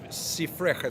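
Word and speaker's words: סִפְרְךָ: No, it's sifrecha, sefer. When you add the cha at the end, it's yours. Okay.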